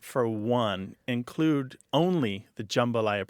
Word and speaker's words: jambalaya: It's jambalaya like that. They don't do that. It sounded kind of like a schwa, didn't it? But it wasn't.